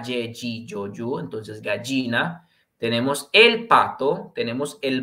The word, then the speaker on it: gallina: Ale, la gallina, no, la gallina, okay, gallina, ya, ye, gi, yo, yu, entonces gallina. Tenemos el pato, tenemos el búho, acento en su U.